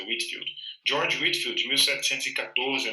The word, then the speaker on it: Whitefield: O George Whitefield, apesar do nome dele ter um Ezinho aqui, eu já vi a pronúncia dele como Whitefield. Deveria ser Whitefield, né, mas é Whitefield.